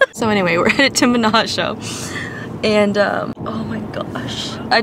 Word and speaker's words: Menaggio: And so we had our car brought up because we knew we wanted to drive to Menaggio. Menaggio? Yeah. And no, I said it right.